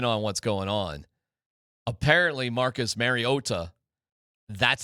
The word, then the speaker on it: Mariota: and Collinssworth just leaned into it because obviously they had some sort of meeting or whatever and Marcus Mariota said no it's Marcus Mariota IT SOUNDED PROOF THAT HE SAID that yes that Marcus corrected them.